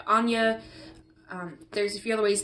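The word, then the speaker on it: Áine: is spelled a I and II but it's pronounced like Anya there's a few other ways depending on where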